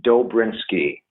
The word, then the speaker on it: Dobrynski: It's pronounced Dobrinsky. Dobrinsky, okay. So, that middle Z and stuff is silent.